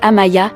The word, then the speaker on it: Amia: Amia, prononcée Amaya, est l'aînée des enfants et a 17 ans.